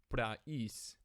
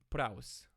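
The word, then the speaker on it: πραΰς: For example, in early high Koine, this word should be pronounced praus rather than praus.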